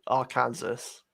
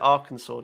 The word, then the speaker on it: Arkansas: more people comment about the way you say our kansas what what but it says arkansas it's i know but they pronounce it arkansas don't they is that is that correct it